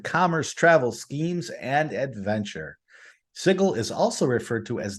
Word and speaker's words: Sigil: Sigil, the City of Doors.